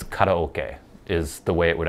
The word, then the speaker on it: karaoke: I will pronounce it the American way, like karaoke. It's karaoke is the way it would actually be pronounced, but I say karaoke like we all do in America.